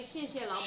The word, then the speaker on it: 谢谢老板: You should say 谢谢老板.